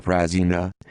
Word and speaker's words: Prazina: yusuf juka prasina pronounced yujafjuka prasina the 7th of september 1962 3 the 4th